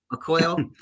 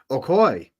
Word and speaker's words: Okoye: Okoye. Okoye.